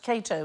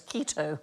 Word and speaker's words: Cato: The first man he killed was an actor who mispronounced Cato as keto on stage.